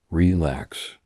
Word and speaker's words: relax: The word relax has stress on the second syllable, relax.